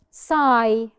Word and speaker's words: sigh: Sigh. Which letter is silent in sigh? Perfect. It's not one letter, it's two letters. G, H.